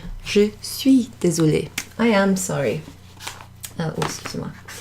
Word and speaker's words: suis: Je suis. Can't see that too easily, can you? J-E, je, that means I, and then S-U-I-S, so we don't pronounce that S at the end.